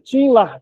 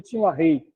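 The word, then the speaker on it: Tim LaHaye: Tinla, a gente fala, mas pronuncia tinrei.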